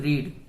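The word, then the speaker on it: read: रीड। और इसकी third form रेड बोलते हैं पर लिखते एकदम सेम स्पेलिंग है, पर इसको बोलते रेड दिस बुक।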